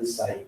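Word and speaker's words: psi: इस wave function साई इसका P silence रहता है एंड इसको प्रोनाउंस किया जाता है this is wave function साई।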